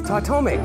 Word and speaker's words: Titomic: I think I pronounce it like Titomic. Titomic. Titomic. Titomic. Titomic. Titomic. Titomic. I say Titomic. Titomic. Titomic. Titomic. Titomic. Titomic. Titomic. Titomic. Titomic. Nice. It's Titomic. Titomic. Titomic. Titomic. Titomic. Titomic. Titomic. Titomic.